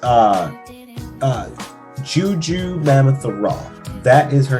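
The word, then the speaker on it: Jurnee Smollett: up it's uh uh juju mammoth raw that is her name some people keep saying goku mammoth raw it's juju mammoth raw of course uh the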